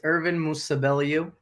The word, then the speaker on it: Ervin Musabelliu: It's Ervin Musabelliu. I know a lot of people get that wrong, so I don't blame you.